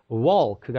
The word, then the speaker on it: walk: 걷다라는 표현은 walk라고 하는 건데 L이 묵음이기 때문에 walk가 아니라 walk가 되는 거예요.